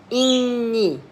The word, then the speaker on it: إني: Inni, hamza and a kasra. I, noon with a shadda and a kasra. So inni.